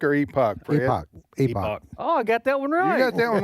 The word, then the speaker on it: Epoch: I guess that's how you pronounce it. Is it Epic or Epoch? Epoch.